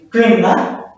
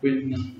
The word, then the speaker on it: kvinna: We will pronounce it like flicka. Flicka is girl. Kvinna, woman. Kvinna.